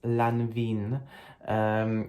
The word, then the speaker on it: Lanvin: This fragrance strongly, very strongly reminds me of another fragrance from the house of Lanvin, or in for my Polish viewers, Lanvin.